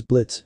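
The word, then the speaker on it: Blitzø: now though why did the name Blitz with a silent o sound familiar to him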